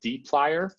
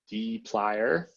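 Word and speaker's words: dplyr: two main packages one of them is called deep liar that's how you pronounce this deep liar you'll see that and there is another one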